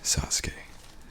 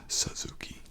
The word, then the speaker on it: Sasuke: So there's a wrestler, and his name was Sasuke, a Japanese, the great Sasuke, and that's how they pronounce it. We, as English speakers, typically pronounce it Suzuki, but the great Sasuke is a politician now, had a full jumpsuit.